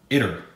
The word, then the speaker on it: Itter: me and it was let me know I was pronouncing it wrong but we're gonna go with inner because I was saying either before and I know I was wrong so yeah has to be castle inner alright where we if